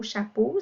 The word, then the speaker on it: chapeau: Par exemple, le mot chapeau, ça s'écrit E-A-U, le son O à la fin, parce que ça nous protège de l'eau qui nous tombe sur la tête lorsqu'il pleut.